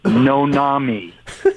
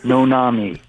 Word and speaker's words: Noname: It's Noname, no name, as one word, pronounced Nonami. Nonami.